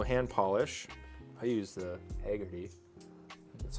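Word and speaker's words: Hagerty: I use the Haggerty. That's how you pronounce it.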